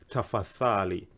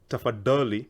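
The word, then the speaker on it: tafadhali: Arabic word taffa thali remember the intonation when we did the syllable sounds the DH the letters DH is the same as the th which is a so I don't want to hear tougher Dolly we don't have tougher Dali or Ramadan we have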